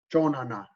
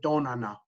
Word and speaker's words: chonana: Chonana, which means a few. Some people say tonana, but chonana, right? A few, chonana. And it's kind of like a half a C, almost like a half a J too. Chona, chona.